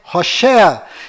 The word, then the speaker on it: Hoshea: Mas a pronúncia correta de Oséias é Hoshea.